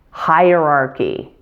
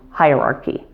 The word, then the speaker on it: hierarchy: Let's start with the basic form, hierarchy. It has 4 syllables, with primary stress on the first syllable. And note that the first 2 syllables of this word sound exactly like the word higher.